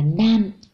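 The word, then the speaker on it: 何: Thì đứng sau nan nó là desu ka, thì nó thuộc hàng D, do đó lúc này mình phải đọc là nan.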